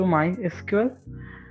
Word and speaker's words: MySQL: Officially, it is pronounced as MySQL. Also, various other pronunciations are quite easily heard.